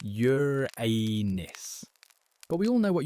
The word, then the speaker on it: Uranus: Yes, it's pronounced Yuranus.